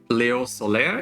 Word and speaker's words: Léo Soler: So today I have Léo Soler. Is that right? Did I pronounce Yeah, your name right?